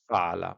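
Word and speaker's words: فعل: It is similar to Hebrew and Arabic, and the similar word in Arabic would be fa'ala. They pronounce as fa'ala instead of fa'al.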